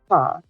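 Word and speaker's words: 她: to a female, so if you want to say she, it is still ta. However, um, it's written slightly different. It actually uses the radical female. So, and then it's still pronounced ta.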